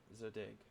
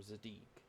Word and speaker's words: Zadig: you need this program, Zadig, or Zadig. I don't care. It's pronounced either way.